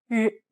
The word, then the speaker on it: 日: It almost sounds like a mix of an R sound and a Z sound. Listen to how Yinru pronounces this sound. 日, 日, 日, 日.